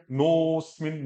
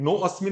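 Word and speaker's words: देहिनोऽस्मिन्: तो देहिनो अस्मिन नहीं बोलना है, अ नहीं बोलना है, देहिनोस्मिन, नोस्मिन, नो अस्मिन नहीं, दोनों प्रोनाउंसिएशन का देखो, नो अस्मिन, एक नोस्मिन। जैसे एक आता है आपका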